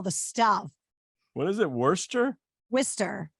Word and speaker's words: Worcester: than you've discovered it yeah so yeah it's worcester worcester all right worcester massachusetts yeah first question